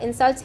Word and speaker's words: insult: In words that function both as noun and verb, the first syllable of the word is stressed when it is a noun and the second syllable is stressed when it is a verb. In other words, there is a difference in stress between insult as a verb and insult as a noun.